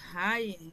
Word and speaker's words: Hay: Rivera, quiero mencionar a Abigail Hay, o Ay, como se pronuncia, en Oaxaca, a Beatriz